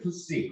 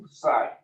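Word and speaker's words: psi: 그래서 읽을 때 푸시 혹은 푸사이. 영국식 발음은 푸사이가 되겠죠.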